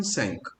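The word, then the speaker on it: cinq: और इंडिविजुअली से 5 को पढ़ते हैं अपन सैंक, बट फ्लुएंसी में, प्रोनाउंसिएशन में ये सैंक का बन जाता है सैसो।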